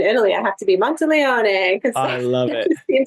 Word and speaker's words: Monteleone: It's Monteleone. is the Monty Italian Monteleone.